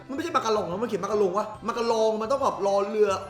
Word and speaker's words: มาการง: เหมือน กัน นะ ผม อัน นี้ อ่าน ว่า มากอง รึ เปล่า อ่ะ หรือ อ่าน ว่า อะไร ทำไม มัน เขียน มากง รอง มัน ไม่ ใช่ รอง หรอ มัน ไม่ ได้ อา มาลง มัน คือ มากาลอง ใช่ มั้ย มัน คือ ไอ้